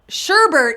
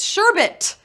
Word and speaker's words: sherbet: Sherbert is how I say it, and apparently how Scotty says it. Sherbert, but there's no R. It's sherbet. That's how it's spelled, sherbet.